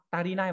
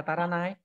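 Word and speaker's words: 足りない: Có hai cách đọc mà, tarinai và taranai. À thế à? Hai cách đọc giống nhau.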